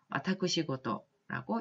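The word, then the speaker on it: 私事: 그 다음에 사적인 관계, 사사로운 일 할 때 이렇게 표현을 할 때 일본어로는 와타쿠시고도라고 읽습니다. 그 다음에 부호, 큰 부자죠. 부호나 부저를 부호나 부자 일컫는 말 일본어로는 후고라고 읽고요.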